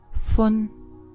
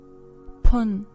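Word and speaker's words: 分: Fun. Fun. Fun. Or pun. Pun pun. The pronunciation will depend on the word that it will go with.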